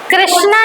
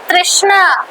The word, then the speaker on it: तृष्णा: third for sense enjoyment first कृष्णा कृष्णा कृष्णा नहीं तृष्णा सो संस्कृत में तृष्णा लिखा